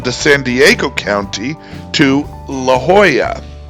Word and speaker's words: La Jolla: The J makes the H sound, and the double L's make the Y sound. So it's not La Jolla, it's La Jolla.